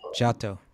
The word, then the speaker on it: Giotto: I forget how to pronounce it. Theater, yes. Huh? Giotto. Giotto.